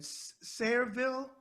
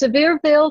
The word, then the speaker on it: Sevierville: Looking at your bio, it looks like you were born in, if I pronounce it wrong, let me know. Is it Sayreville? Is that how you say it? No, it's Sevierville, Tennessee.